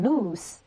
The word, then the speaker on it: loose: 那再看第二个单词 loose, 它读成 loose, 丝轻音的轻辅音的 lose, 它是作为形容词表示松的。